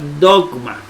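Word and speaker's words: δόγμα: dice la regla que cuando le sigue una consonante la gama va a sonar como g de gato por eso delta delta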